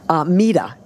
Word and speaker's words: Mida: So whenever you're trying to remember how to say it, or you can correct some people now, and like it's Mida.